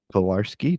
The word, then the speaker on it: Pilarski: He's got a little tied up at the moment, but I'm happy to share our latest guests, Rachel Sanchez and Pilarski. Did I pronounce that correct?